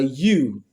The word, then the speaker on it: ewe: word here is a u e w is pronounced as U the same way you pronounce y o u so the first sound here in the word ewe is the consonant sound